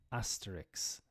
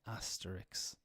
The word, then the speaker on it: asterisk: spaghetti in this case it's the final S and K that do the little Switcheroo coming in as Asterix ah yes because a